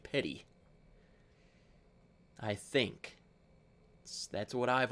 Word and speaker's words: Petit: I would say Petty we have a mountain here called Petty Jean Mountain and it's spelled awfully a l close to that and it's definitely pronounced Petty I think that's what